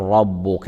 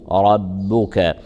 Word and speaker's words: ربك: صغرى ان يبعثك ربك الراء مفخمه والباء مرققه يراع ترقيقها فلا يصح ان نقول ربك بل نقول ورب ربك ربك مق مق مق